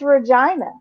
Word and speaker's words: Regina: youtube and i i searched for how to pronounce regina canada and it's regina yeah it is i have a friend who